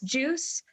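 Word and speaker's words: Juice=Juice: like I'm a fan of like my current new idol that I've been following is a new member of the group, pronounced Juice, but their spelling is juice equals juice.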